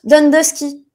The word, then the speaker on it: Downdusky: Et ça se prononce Dundusky.